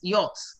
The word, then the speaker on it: yacht: This is how you pronounce it. It is yacht.